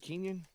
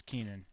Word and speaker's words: Keenan: Middleton yeah yeah kingdom is it Kenyan it's Keenan okay yeah it's the